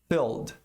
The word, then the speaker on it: filled: Esse som, o som do I aqui é fechado também, circunflexo, E. Você não pode deixar pronunciar o som do L. Fill, fill, no presente. E esse E do ED aqui não é pronunciado. Tem regra para isso. E é fácil, mas precisa aprender. Portanto, a pronúncia do passado do verbo encher é filled.